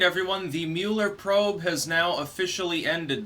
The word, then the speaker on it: Mueller: All right, everyone, the Mueller probe has now officially ended. That is, that Robert Mueller, technically Mueller, but I'm just going to call him Mueller because it rhymes with Bueller.